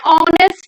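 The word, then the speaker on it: honest: है तो for example an hour N hire an ऑनेस्ट person इनमें क्या है एच क्या है म्यूट है और साइलेंट है तो इनके आगे हम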